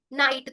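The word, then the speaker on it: night: जैसे silent letter जी एच तो आपने देखा होगा कि कई बार जी एच का उच्चारण नहीं किया जाता।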